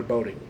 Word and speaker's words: Bodding: It's either pronounced Bodding or Boating. I think it's Bodding.